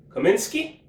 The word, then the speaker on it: Cominsky: With the second, fourth round pick, the 135th pick overall, they selected John Cominsky.